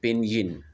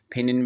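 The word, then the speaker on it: pinyin: इसे हम कहते हैं पिनियन। पिनियन भी बोलते हैं। व्हाई जस्ट लाइक इंतहाई साइलेंट सा हो जाता है। पिनिन भी कह सकते हैं। इसे पिनियन भी कह लेते हैं।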